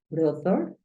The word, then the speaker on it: brother: Acuérdate que la TH tiene como un cambio, entonces no es brother, no, sino es brother, brother.